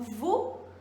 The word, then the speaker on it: vous: Então, por exemplo, quando eu digo vous, eu não estou pronunciando o S no final.